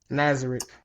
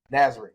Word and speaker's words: Nazarick: Because of the Floor Guardians, I am trying not to butcher the actual name of the place. It's Nazareth. Nazareth.